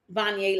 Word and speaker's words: Vonnya: So again, my name is Vonnya Pettigrew, pronounced Vonnya like Kanye.